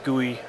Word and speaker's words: GUI: added uh two important features to the engine's guey uh system and guy is um kind of the official pronunciation of GUI which stands for graphical user